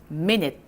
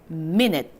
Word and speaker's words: minute: U가 I로 발음되는 대표적인 아이 하나 더. 미에다가 N-U를 니, T-E를 트. 한번 붙여볼까요? minute. 좋습니다. minute.